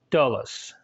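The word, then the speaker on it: dolus: Latin is pronounced Roma the short o is like our oh in a word like not so for instance the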